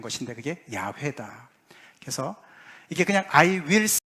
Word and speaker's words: 야훼: 근데 이제 가장 그 정확한 것이 아마 우리가 여호와라고 번역이 된 것인데 그게 야훼다.